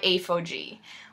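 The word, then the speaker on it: ApHogee: a protein treatment and it is made by a faux g which is spelled a ph 0 g ii ii and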